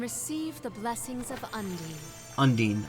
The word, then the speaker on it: Undine: Undine, okay. So that is the canon pronunciation.